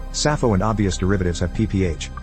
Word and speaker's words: Sappho: There appears to be no etymological link between the two, and in both cases the first p is silent, or if you prefer, the pi is silent.